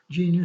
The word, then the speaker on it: GNU: or leanings gnu stands for gnu's not units are pronounced as one syllable with a hard G Starman made the initial